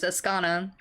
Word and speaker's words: Azcona: I am Azcona. butchering names. Azcona.